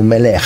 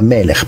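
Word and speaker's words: מֶלֶךְ: Alcuni dicono melech, no, è melech perché due doppio segol, accento primo primo segol.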